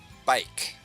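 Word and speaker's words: baik: You can just say bike like a bicycle but I don't think it's spelled the same way. I think it's spelled with an a.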